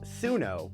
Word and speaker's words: Suno: That's su n o, pronounced sunno.